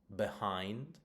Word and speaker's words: behind: However, in two-syllable verbs, prepositions, and connectors, it's usually stressed on the second syllable. So we've got arrive, behind, before, right?